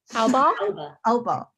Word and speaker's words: Albaugh: Albaugh? Albaugh. Yeah. Who? It's like Jessica Alba, but with a really angry tone at the end. So Alba. Like that.